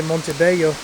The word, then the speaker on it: Montebello: It's written kind of in Spanish, and as a Spanish speaker myself, I just have a tendency to pronounce it like Spanish, and I generally say Montebello.